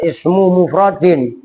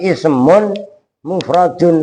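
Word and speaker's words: اسمٌ مفردٌ: Itu inget-inget cara bacanya, bukan ismu mufradin, tapi ismun mufradun, rupanya isim itu adalah mufrad gitu loh.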